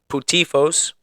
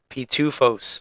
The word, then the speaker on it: pitufos: I do remember putifos. Yes, close enough. I'll give it to you. Pitifos. Wait, no. I said it before. When I called you, I said it right. You said it right earlier, but you already forgot it. Pitufos. There you go.